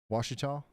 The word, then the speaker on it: Washita: Washita. Okay, all right, my bad. There's another place. I can't remember if it was Wisconsin or what, but it's spelled the exact same way, and it's definitely Wichita.